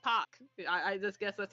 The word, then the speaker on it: Park: like how the how Park is actually a popular Korean last name apparently it's pronounced Pac I just guess that's